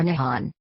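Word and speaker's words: 日本: The name for Japan in Japanese is written using the kanji and is pronounced Nippon or Nihon.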